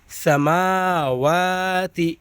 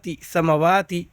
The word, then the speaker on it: سماوات: تا زیر تی، سماواتی۔ یہاں پر اکثر بچے غلطی کرتے ہیں۔ سماواتی میم کھڑا زبر ہے، اس کو کھینچنا ہے، سما کھینچنا ہے اس کو، لیکن بچے کیا غلطی کرتے ہیں پڑھتے وقت؟ سمواتی۔ حالانکہ میم پر کیا ہے؟ غور سے دیکھیے گا، ابھی کھڑا زبر ہے تو کیا ہو جائے گا؟